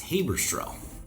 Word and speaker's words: Haberstroh: You're going to let me mispronounce your last name? But it's Haberstroh.